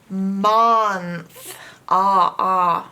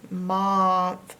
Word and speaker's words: month: Now if you pronounce this phonetically, it would be month. Month. Because this N is closing in this O. Month, making a short sound ah. But people pronounce it month as though this is a U.